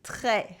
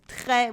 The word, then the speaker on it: très: too much instead of très for a lot. We use trop with the silent P instead of très with the silent S.